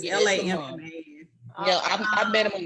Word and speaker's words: Lamman: It might be pronounced Lamont, but it's Lamman.